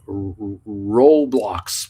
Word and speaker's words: Roblox: we have to tell Uncle Bruce that it's pronounced Roblox we got to tell them that uh Nick